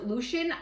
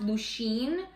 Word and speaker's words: Lucien: the book there's Lucian I call him Lucian but I think I saw a thing that said his supposed to be pronounced Lucien but I just from the beginning my brain said Lucian and so I can't unthink that so that's what I'm calling him so Lucian is